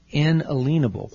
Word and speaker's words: inalienable: are secure and alan i use that pronunciation intentionally in a leanable what is a lien when you have a